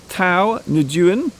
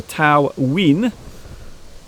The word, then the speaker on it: Thao Nguyen: Tao Nguyen or Tao Nguyen. Apparently that's how you pronounce it in English.